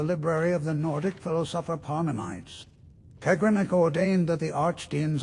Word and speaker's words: Parmenides: It's pronounced Parmenides, by the way, based on an actual philosopher.